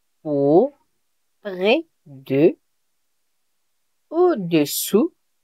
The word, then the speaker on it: au-dessous: Really be careful with the pronunciation. So for below, it is au-dessous. You get it? Au-dessous. Yes. Très bien. And for above, it is au-dessus. It sounds pretty similar. Yes, it sounds a bit similar.